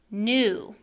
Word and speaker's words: new: New. New has a tricky sound of oo, which usually is made with a U, but here we spell new with EW.